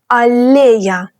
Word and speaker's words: аллея: Аллея. With long L sound.